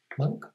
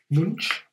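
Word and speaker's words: Moench: by rico rival and doug monk don't pronounce his name munch and they're only about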